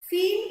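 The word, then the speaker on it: feign: now this is fiend FEI is to pretend the pronunciation of this word is Fe right so you Fe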